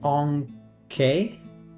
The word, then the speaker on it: Ankh: It's pronounced Onk. Onk. It totally looks like Ankh.